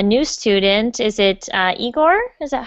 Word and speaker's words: Igor: today um a new student is it uh eigor is that how you say your name yes that's right pronunciation and uh where are you from igore